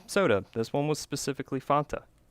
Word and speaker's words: Fanta: Or in the South, as I was arguing with my employees, Fanta. But it's pronounced Fanta. Like the old ads, the Wanta Fanta. Don't you wanta? But everyone here in South Carolina calls it Fanta.